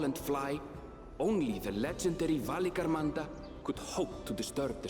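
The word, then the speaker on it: Valigarmanda: beasts which crawl and fly only the legendary valy Ganda could hope to disturb the summit's Serene Majesty so that's how you pronounce it yet with that flying Calamity imprisoned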